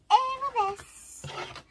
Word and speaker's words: arabesque: It's Arabesque.